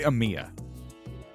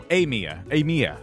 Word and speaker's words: Amia: So I'm going to call it Amia. What's the theme? I guess we'll find out. Say it like the letter A, and then, so Amia.